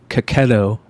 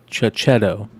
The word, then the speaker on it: Cacchetto: Cacchetto, Marco Cacchetto, not Chichetto, as I've been told.